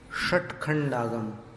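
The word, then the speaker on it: षट्खंडागम: रखनी होगी ऐसे श और जब आपको तखंड आगम का श बोलना होगा तब कैसे बोलेंगे इसी जीव को ऐसे सिर की तरफ ले जाना श षट खंड आगम षटकोण षडयंत्र आ रहा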